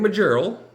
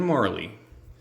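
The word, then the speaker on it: Majerle: It's not Dan Majorel. It's Dan Marley.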